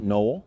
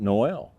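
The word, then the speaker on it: Nol: We pronounce it Noel, but there's others who pronounce it Noel.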